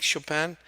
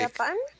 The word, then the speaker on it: Chopin: Just very quickly, the biography of Frédéric Chopin and the biography of Wolfgang Amadeus Mozart, please, really quick. Japan?